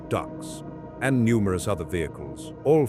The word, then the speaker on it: DUKWs: Each ship carries approximately 600 men, soldiers of the fourth infantry division, engineers, medical personnel, plus 22 amphibious trucks, DUKWs, pronounced ducks, and numerous other vehicles, all fully fueled, all loaded with ammunition.